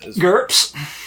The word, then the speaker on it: GURPS: much all you know gurps yep like that yeah okay because it rhymes with in terms of Burke's I wasn't sure you'd